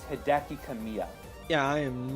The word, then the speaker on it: Hideki Kamiya: you for one kind of detail but it's Hideki Kamiya yeah I am not good at pronouncing Japanese names exactly Kimmy I'm sure I'm